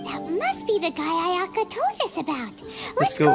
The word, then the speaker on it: Ayaka: Ayaka. Oh, look at that. That's how they pronounce Ayaka's name.